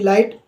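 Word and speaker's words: light: एच टी यानी फाइट एल आई जी एच टी लाइट ऐसे आपका ब्राइट स्लाइट ठीक है माइट नाइट थ टाइट सॉरी टाइट और फ्लाइट और एक नेक्स्ट आपका फ्लाइट डे लाइट नाइट और साइट इन सभी में आपको साफ-साफ नजर आ रहा होगा आपके जितने भी मैंने वर्ड आपको जो बोले हैं ठीक है उनका उच्चारण किया है किसी में भी जी एच की आवाज नहीं आई है क्योंकि जी एच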